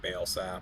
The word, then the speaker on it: Balesap: Or Balasap? How would you pronounce that, John? All right, Balesap.